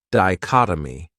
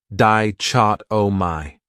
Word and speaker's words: dichotomy: Another great noun is dichotomy. This word has 4 syllables, and the stress is on that second syllable, dichotomy. That third syllable has that schwa, that sound, dichotomy.